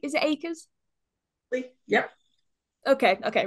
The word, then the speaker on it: Akers: Is it Akers? Yep. Okay, okay, right, okay. I always have to double check when I'm pronouncing stuff, so if I get it wrong, please let me Yep.